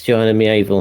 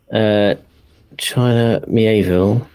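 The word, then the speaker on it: China Miéville: Hang on, how to pronounce China Mieville. Hang on, I'm on how to pronounce stuff. China Mieville. China Mieville. China Mieville. Rhymes with Knievel.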